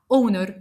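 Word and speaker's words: honor: امثله اور اونر اونست بالرغم ان الثلاث كلمات بيبتدوا بحرف الاتش وهو حرف ساكن الى انه لانه سايلنت احنا نطقنا تاني حرف الاو فبالتالي بقت اور ساعه اونر شرف اونست شريف وبالتالي النطق نطقته حرف متحرك اذا فحطيت اداه التعريف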